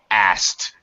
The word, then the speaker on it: asked: actually pronounced asked as asked we in other words we eliminate the K sound it just st asked